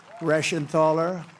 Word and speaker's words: Reschenthaler: Guy Reschenthaler. That's the hardest name in the Senate to pronounce, but I've learned how to pronounce it.